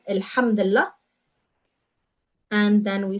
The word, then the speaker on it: Alhamdulillah: So Alhamdulillah means thank God, and we pronounce it as one word, Alhamdulillah.